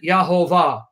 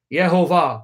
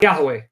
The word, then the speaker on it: Yehovah: of divine name, and they pronounce it Yahovah, Yehovah, where we get Jehovah, not Yahweh.